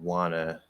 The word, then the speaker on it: wanna: to study really lazily the n sound in wanna sort of disappears and the a before it gets nasalized is that bad okay so let's see here the end and wanna wanna study i don't wanna say uh no that's normal that's very normal um so it seems